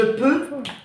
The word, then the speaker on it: peux: Je peux, E-U-X. En français, tu ne prononces pas le X.